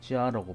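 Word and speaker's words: 佳: 그 가를 지아라고 발음을 하고 풍습에 가히 쓴다.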